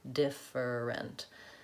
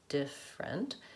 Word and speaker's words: different: often hear is that people will say this word with three syllables and it makes it sound like different now it makes a lot of sense if you look at the written word dif different it looks like it should be said different because of the spelling but in reality it's actually only two syllables different and so just knowing